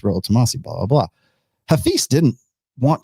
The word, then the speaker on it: Rollo Tomassi: michaela at least michaela has the balls to say my name right to say it's royal tomasi blah blah hafiz didn't